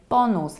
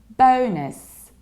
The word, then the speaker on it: bonus: in Polish - and that's why many people pronounce it in a very Polish way and they say bonus like bonus points all I've got bonus whereas we should say bonus bonus you rounded like homos so or go